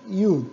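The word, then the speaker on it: אי: muy muy sencillo muy austero y la palabra y es isla en hebreo y se escribe de esta manera aleph you'd leave you esta palabrita aquí que ustedes ven se pronuncia y y eso significa isla ahora está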